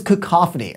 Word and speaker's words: cacophony: California's prime our funnest name but it is cook coffee and what does that mean well it's one